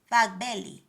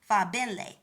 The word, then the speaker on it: Fagbenle: Time Fagbelli. Let me pronounce this over. Time Fabenle.